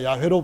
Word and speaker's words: 야훼: 주의 날은 구약에서는 야훼라고 아마 야훼로 번역하는 것이 발음하는 것이 가장 적절하게 알맞게 발음할 것이라고들 학자들의 말하는데요 신약에서는 그것을 전부 다